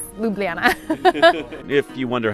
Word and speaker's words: Ljubljana: Ljubljana yeah I know if you take the J's out just ignore the J's and it's Ljubljana if you wonder how